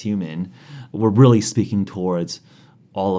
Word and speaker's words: HVMN: So a lot of the employees and also community members at Nutrabox, which as was our former name, moving into H.V.M.N, pronounced human, we're really speaking towards all of biohacking, not just nootropics.